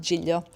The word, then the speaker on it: Giglio: Giglio or whatever, I don't know, but it's pronounced Giglio.